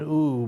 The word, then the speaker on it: ewe: Now that's E-W-E. I'm saying ooh, but you know, ooh. It could be not exactly the way you pronounce it, and removed its nucleus, which contains the genetic material.